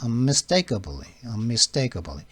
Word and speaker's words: unmistakably: S가 있기는 mistake라고 발음하시겠지만 S 때문에 T는 경화가 돼서 mistake 이렇게 발음이 되죠.